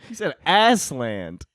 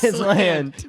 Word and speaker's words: Aslan: there a slam sorry how do you pronounce it as land as land well we've done galaxy's